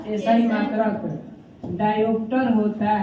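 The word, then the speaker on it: diopter: क की मात्रा है, न कि ख की मात्रा। इंग्लिश में देख लीजिए ना क्या है, डायोप्टर है ना।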